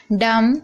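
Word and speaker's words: dumb: तो B silent है डम यहां पर भी आप देख रहे हैं एम के बाद बी है तो बी साइलेंट है अब यहां पर देखिए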